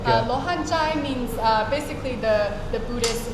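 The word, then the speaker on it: 罗汉: And is it in Chinese, is it pronounced exactly like that, Lohan? So it's actually Luohan. Lohan. Luohan.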